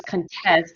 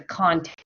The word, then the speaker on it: contest: we're focusing on pronunciation so the noun contest the verb test okay lan can you say contest contest and then the verb contest contest good okay so lucia